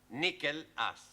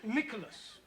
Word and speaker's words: Nicholas: upon a times there was a man called nickel ass it's not quite right no once upon a time there was a woman called nickel us it's pronounced Nicholas all right once upon a time there was